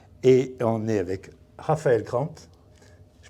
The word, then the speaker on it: Crambes: Une petite surprise aujourd'hui puisqu'on est au siège de KTM France et on est avec Raphaël Cramp. Je prononce bien?